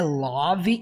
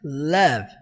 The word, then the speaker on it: love: Presta atenção porque não é love e muito menos love, tá? A pronúncia é som de a. Então, they deserve love.